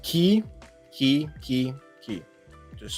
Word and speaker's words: ki: into the key so the third sign is pronounced key key key key just